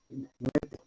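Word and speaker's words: Noether: Eso es lo que me dice el teorema de se escribe Noete, Nete, se pronuncia.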